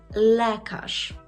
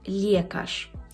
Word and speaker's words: lekarz: у нас буде слово лекаш лекаш я дуже часто чую що мої студенти кажуть лкаш це неправильно дивіться ли м'яке і це його проблема